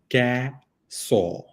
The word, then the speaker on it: croissant: So, for example, if it is if it is croissant, which is a phonetic pronunciation one type, there's this type which is casaw, casaw. Yeah.